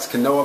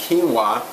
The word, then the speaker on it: quinoa: It actually looks like quinoa, but it's pronounced quinoa.